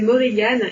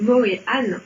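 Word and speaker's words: Morrígan: Non, généralement, moi j'entends prononcer Morrigan et Brigide. En fait, c'est une erreur. On devrait prononcer Morihan. On devrait même prononcer Morihan en faisant un H de gorge.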